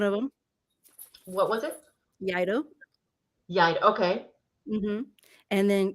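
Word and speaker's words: Iaido: Yeah, Okay, so let me see the words that I was mispronouncing. okay. What is So it? Yaido is one of them. What was it? Yaido.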